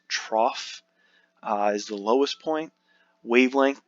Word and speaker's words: trough: The trough, that's how it's pronounced, trough, is the lowest point.